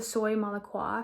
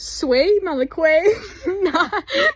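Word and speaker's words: Soie Malaisie: not even it's the soy malaa from Dre spon sorry if I pronounced it wrong soy Mala I just looked up how to say and it's sway Malay soy Mala swear oh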